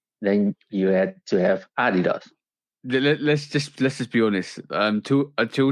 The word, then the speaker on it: Adidas: Well, I think it were more tennis shoes, New Balances, Adidas, or like we have to say, Adidas. I just work. I'm tweaking your pronunciation of Adidas. So Adidas. Yeah, and I remember, I think it was '83.